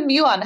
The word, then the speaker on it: muon: word it is a muon have you um the first part is Mew like the Greek letter Mew right right right so